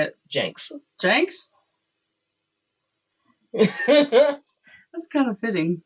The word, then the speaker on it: Jenks: town yeah okay um i used to say it correctly like you know normal people and then i worked with a guy who came from minnesota and he changed the way i've i say it forever how do you say